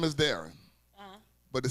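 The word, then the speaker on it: Diahron: my my real name my real name is daring uhuh but it spelled up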